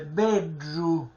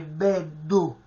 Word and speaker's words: beddu: lingua sul palato superiore, e viene questo suono strisciante, bedru, bedru, che si avvicina allo stesso, diciamo, alla stessa pronuncia di DR, ma la R ortograficamente non si scrive, bedru, quindi non si può pronunciare beddu.